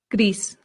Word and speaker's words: gris: Up next, gris. Gris. This sounds just like the English word grease, like the grease from a pan or like oil, grease.